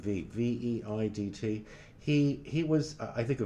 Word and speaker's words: Veidt: with Conrad, I think you say his name Veidt.